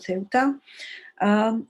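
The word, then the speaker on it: Ceuta: in north africa it's a city called seota in arabic it's called septa but in spanish it's called ceota this is a very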